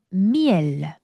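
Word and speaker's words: miel: 꿀 미엘 미엘. 자, 이게 프랑스인들 특징인데요. 여러분, 마지막에 만약에 어떤 자음이 발음이 되면 굳이 이걸 미엘이라고 짧게 말하는게 아니라이 막 자꾸 끌어당겨 미엘 이런 식으로.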